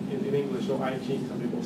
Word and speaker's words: I Ching: And that's what gave rise to this classic, now it's known as classic of change in I Ching, is often pronounced in English, or I Ching, some people say, which is translated as a classic of change.